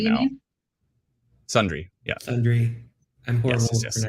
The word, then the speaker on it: Sundre: Francis just said tornado on the ground south of Sundridge. Okay, I'm going to definitely post that Sundre, right now. Sundre, yeah.